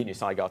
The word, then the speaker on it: Kinusaiga: Kinusaiga today.